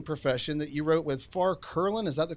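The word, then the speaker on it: Curlin: and the healing profession that you wrote with far klin is that the correct pronunciation that's right okay and and I'll tell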